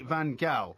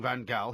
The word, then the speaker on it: Van Gaal: But when I heard Ruud Gullit saying Van Gaal, he actually said Van Gaal. It is Louis Van Gaal. It is not Van Gaal.